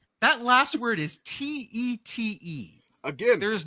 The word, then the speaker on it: Tête: Tate. That last word is Tete.